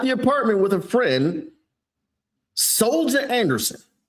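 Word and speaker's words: Soljah: Soldier Anderson. S O L J A H. Soldier is this person's name.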